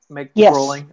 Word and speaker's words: Groeling: I'm pronouncing that right. Groeling. Okay. Groeling.